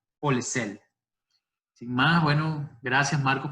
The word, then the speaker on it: Polesel: voy a dar la bienvenida formal a Marcos Polesei. Sí. ¿Se pronuncia bien así? Polesei. Polesel, con L al final.